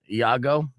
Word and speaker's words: Iago: the original uh voice of lago from aladdin iago yeah logo and affleck duck i'm sorry affleck duct tape mispronounced that too that's gonna be a pronunciation